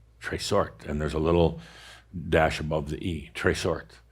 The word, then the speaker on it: trésort: It's a word, I'm going to spell it out, Linda. Okay. It's TRESORT. Tresort.